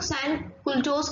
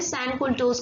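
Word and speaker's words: sans-culottes: सैन कुल्टोस कहने लगे। ये फ्रेंच लैंग्वेज के शब्द हैं तो मे बी प्रोनाउंसिएशन गलत हो सकती है, बेटा आप लोग क्या करना कि इनकी स्पेलिंग सही लिखना।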